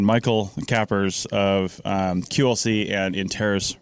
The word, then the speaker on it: Michiel: And I'm sitting here with, in the English pronunciation, Michiel Kappers of QLC and InTerris Registries. Michael, how's it going?